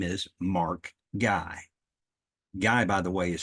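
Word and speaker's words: Gai: also a fellow podcaster his name is Mark guy guy by the way is spelled g AI Mark guy Mark had a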